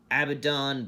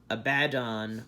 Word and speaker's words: Abaddon: another one this is our abaddon black or a bad on black however you prefer to pronounce it that looks cool